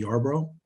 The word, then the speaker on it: Yarbrough: we're going to start off with uh yarbrough and and my am i pronouncing your last name right yes you are